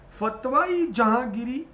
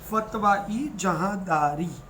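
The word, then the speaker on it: Fatawa-i-Jahandari: So remember here, Fatwa-e Jahangiri, actually it is wrongly pronounced in your book. It has to be Fatwa-e Jahandari. So you will write Fatwa-e Jahandari, not Fatwa-e Jahangiri.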